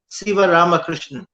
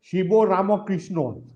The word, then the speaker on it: Sivaramakrishnan: practice my name and they pronounced it perfectly right siva ramakrishna but if they can't pronounce la buscardi i wonder what they're doing there the problem is you know when shiva goes to calcutta they call it shibo ramakrishna wonderful well it's